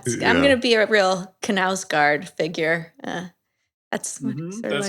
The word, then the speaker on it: Knausgaard: Yeah, I'm gonna be a real Knausgaard figure. That's That's how you pronounce that, right?